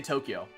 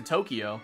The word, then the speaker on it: Tokyo: People can't say Tokyo. They say Tokyo. Like, oh, I went to Tokyo. Like, it's Tokyo. You're adding an extra syllable that isn't there.